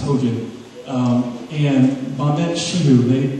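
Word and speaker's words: Hoxha: I know it wasn't Hoa, but it's pronounced Hoja.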